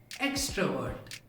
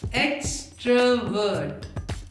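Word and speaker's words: extrovert: इन तीनों वर्ड्स के प्रोनाउंसिएशन में आर साइलेंट होता है और पहले 2 लेटर्स पर जोर लगाते हैं। इंट्रोवर्ट, एक्सट्रोवर्ट, ambivert. इंट्रोवर्ट, इंट्रोवर्ट, इंट्रोवर्ट, एक्सट्रोवर्ट, एक्सट्रोवर्ट, एक्सट्रोवर्ट, ambivert, ambivert, ambivert.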